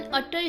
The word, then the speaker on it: utter: और हम कह सकते हैं शी इज एन अटर stranger to me, means वह पूरी तरह से मेरे लिए अजनबी है। सो हमें यहाँ यू को अ प्रोनाउंस करना है, अटर, ना कि यू प्रोनाउंस करना है।